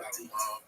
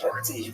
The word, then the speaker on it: petit: It's pronounced not petit, but petit. And that sounds a little like petty in Hebrew.